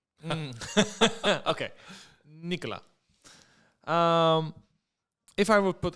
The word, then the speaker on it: Nicolas: Ah, but because we want to fool foreigners in French, we don't pronounce most of the time the last conssonants. Okay, Nicola.